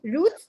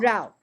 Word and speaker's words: route: You see, route and route. Route and route. Route American, route British.